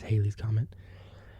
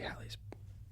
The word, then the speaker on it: Halley's: and she says is she pronounced it as Haley's comment but it's actually Halley's no uh no no